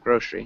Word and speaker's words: grocery: good nice good job grocery grow street grow shri right yeah grocery so we'd really emphasize the first the first syllable grocery grocery good okay